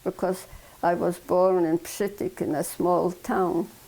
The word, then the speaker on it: Przytyk: This was already in Lodz because I was born in Przytyk, in a small town. How do you spell that town? Przytyk in Polish, P, Z, and S, T, Y, K, Przytyk.